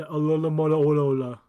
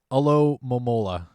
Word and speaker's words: Alomomola: to be togetic espeon umbreon gardevoir gallate and olola the one we never pronounced correctly on purpose no i try okay try it alo momola alomomola job no i think i nailed it